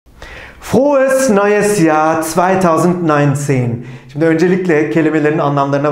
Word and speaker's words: Frohes neues Jahr: Arkadaşlar, mutlu yıllar demeyi doğru telaffuzuyla söyleyelim. Frohes neues Jahr 2019. Tekrarlıyorum. Frohes neues Jahr 2019.